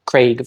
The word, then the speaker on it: Craig: being a proxy for any of the other pronunciations that are not Craig version one so where do we start what